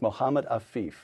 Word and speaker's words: Mohammed Afif: Did I pronounce that correctly? Yes. To men like Mohammed Afif.